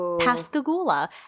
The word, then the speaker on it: Pascagoula: in the same area pascagoula and i know that's pronounced right because i looked it up because it's a very weird word it sounds like past the goulash a little bit and then in halloween